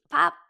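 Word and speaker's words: 밥: Pap. One syllable. It has all kinds of warmth to it. Pap.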